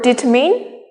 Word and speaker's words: determine: apple and the word determine determin determin and the word determine determin determin the stress is on tur the stress is often